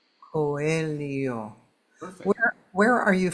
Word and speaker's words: Coelho: pronouncing it incorrectly right coio coio perfect where where are you from originally I'm from Brazil so that is a Brazilian uh pronunciation yeah um so it's coio right okay I I've